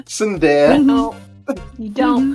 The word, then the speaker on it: Tsundere: It's Tsundere. R.I.P. No, it's not. Don't pronounce the T. Tsundere.